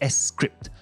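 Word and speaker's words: scrypt: called sha256 or sha-256 litecoin however uses an algorithm called s-script which is spelled s-c-r-y-p-t now what makes this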